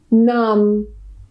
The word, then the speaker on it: numb: it's in the middle, the B at the end is silent and we just pronounce the M.